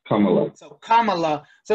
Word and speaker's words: Kamala: Kamala, like a comma and la, Kamala.